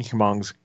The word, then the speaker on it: Hmong: Garnished with fresh herbs and finished with Union Hmong's Kitchen's crunchy chili aioli. Okay, I'm gonna pause you here just to correct you. It's just Hmong. It's not. You don't pronounce the H at all.